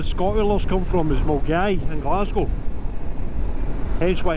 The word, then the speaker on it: Milngavie: Yeah, so yeah, Milgai, or Milngavie as the English like to call it, or anybody who can't speak Scottish. Milngavie, it's Milgai. Yep, so.